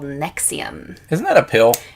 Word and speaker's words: NXIVM: It's pronounced the same, but it's not spelled the same.